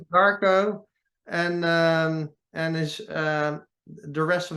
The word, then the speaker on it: Marko: No, his name starts with an M and ends with Arco. It rhymes with Darko. Marko, and his the rest of his name is HEITALA.